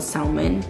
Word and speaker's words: salmon: I just kind of like mixed all the salmon. A lot of people are like, you don't pronounce the L. Whatever. If you don't pronounce the L, then why the fuck is it in there?